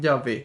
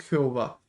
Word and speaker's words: Yah: soy el que soy Entonces al agregarle las vocales quedó en en yah y así se pronuncia su nombre no es Jehová Jehová es una una traducción errónea que se realizó a